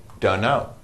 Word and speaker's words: dunno: means don't know but we don't pronounce the T we just say dunno where is he I